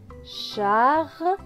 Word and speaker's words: Charlie: ne se prononce pas, Charlie, le E à la fin est écrit en gris, donc il ne se prononce pas.